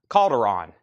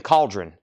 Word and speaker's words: Calderon: Now, Austin, Doug, our logistics manager here, he said your last name is pronounced Calderon. I think I've been saying Cauldron.